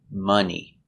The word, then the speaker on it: money: Both are spelled with O and both are pronounced Some, money.